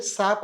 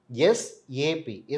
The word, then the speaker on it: SAP: நிறைய பேரு சாப் அப்படின்னு சொல்லுவாங்க. ஆனா ப்ராப்பரா ப்ரொனவுன்ஸ் பண்றது பார்த்தீங்கன்னா, எஸ்ஏபி.